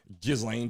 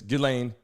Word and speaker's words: Ghislaine: I'm saying Gizlane G. It's Gileain.